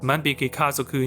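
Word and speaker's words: 万引き家族: Shoplifters, pronounced "Manbiki Kazoku" in Japanese, is properly translated as "The Thieving Family" in Chinese.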